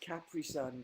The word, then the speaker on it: Capri-Sun: Everyone's saying Capri-Sun now. It's pronounced Capri-Sun, guys.